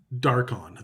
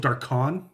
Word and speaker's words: Darkon: I wonder if this one's called Darkon or something like. The emphasis is on the wrong syllable.